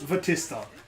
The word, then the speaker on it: Vatista: dough would my name the Batista or vatista because it's Japanese Batista fair enough yeah it's